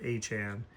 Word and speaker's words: Etienne: We got Travis Etienne as he said his name is pronounced like like the Devon Achane. So that Etienne and Achane are both Achane.